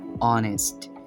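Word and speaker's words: honest: যেমন এখানে আমরা দেখতে পাচ্ছি যে অনেস্ট, সো এইচ অ পরে শব্দটি কিন্তু অনেস্ট উচ্চারিত হবে।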